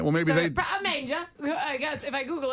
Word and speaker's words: Manger: I'm like, Preda Manger. I don't know. That's how it's spelled. I went the phonetic route. Someone said it's manja. It's French.